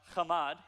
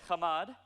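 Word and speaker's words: חמד: The word to covet here it's a verb, and it's pronounced chamad. Everyone say chamad.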